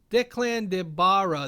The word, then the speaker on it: Declan de Barra: witcher spin-off series from declan de barra there we go that's how you say it and lauren smith his